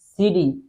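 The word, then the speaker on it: city: এখানে একটা বিষয় হচ্ছে এই সিটি এর প্রনাউন্সিয়েশনটা কিন্তু আপনি যদি আমেরিকান স্টাইলে উচ্চারণ করতে চান তাহলে এটিকে আপনি জাস্ট ডি উচ্চারণ করবেন। It's from Mymensingh সিটি market, সিডি, because আমেরিকানরা সবসময় টিকে ডি উচ্চারণ করে।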